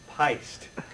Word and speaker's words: Pyst: It's pronounced Pyst. Okay? It's pronounced Pyst. Whoa! I'm pissed. P-Y-S-T. It rhymes with heist.